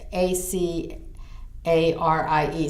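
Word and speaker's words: Acarie: and I'm the french i'm using the french pronunciation because that's the way I learned it but it's a see a rie some of you may know her with a different pronunciation but she was a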